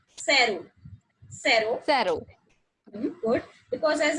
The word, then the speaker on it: cero: So 0 is pronounced as like cero. Cero. Cero. Good. Because as I told you, the pronunciation of CE is like sa.